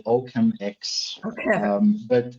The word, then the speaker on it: OccamX: occam yeah so so let let me pronounce it with my german accent i call it oakham x okay um but it's